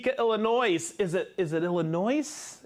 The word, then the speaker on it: Illinois: is it is it Illinois is there an S there's an s on there but it's not pronounced there okay then why does